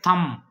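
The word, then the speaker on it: thumb: आगे है थम, थम, थम में बी साइलेंट है।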